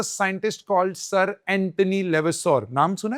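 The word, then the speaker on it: Lavoisier: sir Antony लेवस्योर लेवेसोर की spelling L ए वी ओ आई एस आई ई आर sir Antony लेवेसोर okay he is known as father of modern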